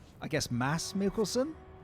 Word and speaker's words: Mads: According to Kim, the D is silent. It's it's mass I guess mass Mickelson.